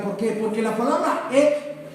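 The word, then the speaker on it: ἐκ: Y estas dos preposiciones por, repita, por, en griego es ek, que se escribe más o menos así, EJK, ek.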